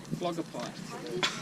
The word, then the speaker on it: phlogopite: It's called phlogopite, with a PH at the start. Phlogopite. Can you spell that? Exactly how it sounds. PH, L-O-G-O-P-I-T-E. What did you say? Almost. Phlogopite. Not phlogopite, phlogopite.